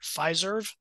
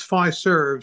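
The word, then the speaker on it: Fiserv: question I see this company everywhere am I pronouncing it correctly is it pfizerv it's five serves short for financial services oh well that makes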